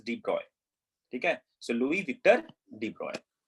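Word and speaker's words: de Broglie: how to pronounce it I think I have seen somewhere that we pronounce this as debroy okay so Louis Victor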